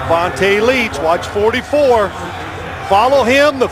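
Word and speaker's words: Vonta Leach: Vonte Leech.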